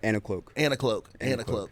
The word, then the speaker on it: Anicloak: How do you pronounce it? Anicloak, right? Anicloak.